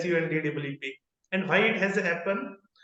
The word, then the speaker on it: Sundeep: is s pronounce so people used to say it is s DWP whereas in fact it is Su DWP and why it has